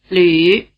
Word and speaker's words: lü: It has roughly the tongue position of the vowel sound E, and roughly the lip position of the vowel sound U. If you pronounce a steady E sound, and then round your lips into an U position without moving your tongue, you'll get the U sound.